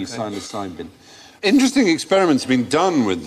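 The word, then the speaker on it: psilocin: but the magic mushroom syosin silent P silin interesting experiments been done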